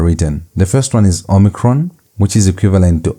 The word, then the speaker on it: omicron: And so it's pronounced like O as in note. That O sound is how you pronounce the letter O omicron.